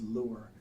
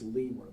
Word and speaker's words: Lewer: Calderon's questions about Ms. Lure. I believe it's pronounced Lewer, though. I think that's right.